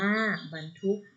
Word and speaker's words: บรรทุก: ต่อ ไป นะ คะ บรรทุก อ่าน ว่า บรรทุก เป็น รถ บรรทุก อยู่